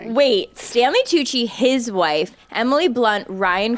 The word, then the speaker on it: Tucci: Tuji. I don't know how to say his name. Stanley Tucci.